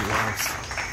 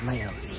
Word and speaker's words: Laos: a map it's pronounced wolves not Leos some people like to say Leos but um those people are so wrong hello boys and girls